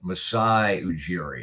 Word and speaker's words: Masai Ujiri: And like to somebody's eye, saying Jee, but I needed to see the words like Jeer, Jeer, or however you would say Jeer, but that's how you say it. Masai Ujiri.